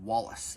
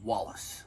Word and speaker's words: Walais: either but um Wallace it is spelled w-a-l-a-i-s and I did contact Jim and I said are you guys calling this are you calling this Wale or Wallace and he said Wallace so it's like William